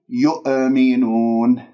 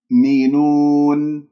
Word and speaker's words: يؤمنون: الياء إلى الهمزة الساكنة لا تقول يؤ شوفوا غلط يؤ ليش؟ لأنه أنا نطقت الهمزة ولا زالت الشفاه مضمومة إذن لا يؤمنون الهمزة هذه من الأخطاء الشائعة فيها أنه ممكن أقلقلها أقول يؤمنون أو أقول همزتين يؤمنون لأني لم أقفل الأوتار الصوتية تماما أنا أفكك الكلمة ثم بعد ذلك أركبها حتى تصير عندي مضبوطة يؤمنون تدربوا عليه هكذا يؤمنون لاحظتم؟